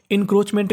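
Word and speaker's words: encroachment: crow ए सी एच सी एच को पढ़ना है चा और ए का उच्चारण नहीं करना तो मीनिंग बन गई हमारी इन क्रोच मेंट एनक्रो मेंट इक्रो मेंट एंक्रोचमेंट का मतलब होता है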